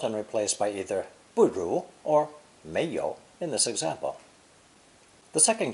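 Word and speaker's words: 妈: woman plus the horse as phonetic pronounce first tone ma this is obviously derived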